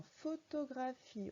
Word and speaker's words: photographie: Dans photographie, on entend 2 fois le son F. Et les 2 fois, il s'écrit avec PH. Alors photographie, c'est le vrai mot, le nom entier.